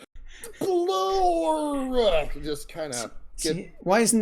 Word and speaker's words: SPLORR: It's like a 1-syllable word, but if you can make it into about 3 or 4 syllables, SPLORR.